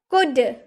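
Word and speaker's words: could: कुड, कुड, कुल्ड आपने बोला है? नहीं ना, क्योंकि कुल्ड एल का उच्चारण तो हुआ नहीं, तो हम ल क्यों लगाएंगे, हम बोलेंगे कुड।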